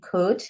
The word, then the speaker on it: could: This is also a tricky word because you've got silent letters in it. So you can hear, you can't hear the O. You can hear this letter K, U, D. These two, the O and the L, you can't hear them.